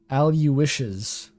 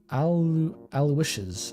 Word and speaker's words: Aloysius: all he does oh eloisius is pronounced al you wishes alicius al-wishes aloysius how does that